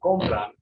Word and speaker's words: compran: So if I say compran, it's the first syllable out of these two because that's the second to last syllable in this word.